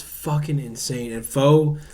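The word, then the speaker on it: phở: And pho. So it's pronounced pho. Nah, it's pronounced pho. But I'm fucking American. Just the Americanized version. It's pho. It's pho ga. That's how you say it.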